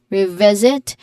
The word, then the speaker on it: revisit: Pronunciation wise, the stress is on the second syllable of revisit. V v revisit.